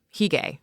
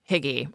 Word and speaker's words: hygge: And in came Heay or Higgy or Haga. We all pronounce it wrong, but you've probably seen it.